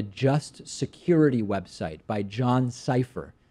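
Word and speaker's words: Sipher: security website by John cipher kind of a funny name for someone who writes on a security website whose last name is safe or like decypher even though it's spelled differently si pH er John cipher is a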